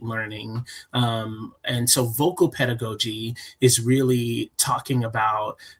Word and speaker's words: pedagogy: Pedigogy is that say right? Yeah absolutely. So basically pedagogy just means um uh how we teach how we teach um and how we facilitate learning.